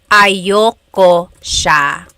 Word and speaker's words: ayaw ko: Usually it's pronounced ayoko siya. So if you want to sound a little bit more natural, you put everything together, ayoko siya. Ayaw ko siya is ayoko siya.